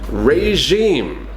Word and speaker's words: regime: to say these words regime regime so again it's kind of similar to the word we said before genre it's got the same jaw the same sound this is a French word as well maybe regime Kent could